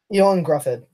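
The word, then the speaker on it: Ioan Gruffudd: Ewan Grufford.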